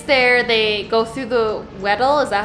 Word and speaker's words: Weddell: And he gets there, they go through the Weddell, is that how you pronounce that? Yep. Weddell.